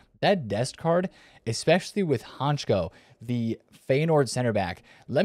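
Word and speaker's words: Hancko: which by the way, it looks like it's pronounced Honko, but I've been told it's Honchko, kind of like an S.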